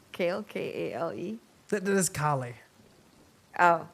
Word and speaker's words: Kale: Northern Ring like kale k-a-l-e there's Kali oh right how do you spell his name he's the same oh instead of Kali it's kale kale right no Accent on the E I guess right yes